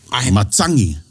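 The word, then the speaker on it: matagi: what about in Sal now the G is pronounced as an NG I'm yeah I'm going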